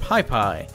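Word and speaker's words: Pis Pis: is in Nicaragua and piss-piss is pronounced pie pie it shares the name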